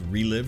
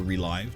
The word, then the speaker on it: ReLive: It's called Relive or Relive, depending on how you want to pronounce it.